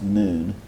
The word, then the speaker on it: Nun: Incidentally, it would really be pronounced noon, if that makes a difference to you.